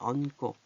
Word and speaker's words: 얹고: 자, 여기는 동그라미가 없죠? 그래서 꼬가 됐어요. 얹고.